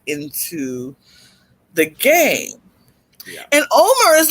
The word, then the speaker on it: Omer: tweet earlier about mispronouncing Omer's name, because some people really hate when their name is mispronounced. So I'm going to pronounce it correctly. Omer.